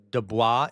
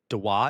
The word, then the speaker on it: Dubois: Do not pronounce Dubois. It's Dubois.